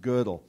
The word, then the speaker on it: Gödel: Gödel is spelled this way with an umlaut over the O, and it's pronounced Gödel.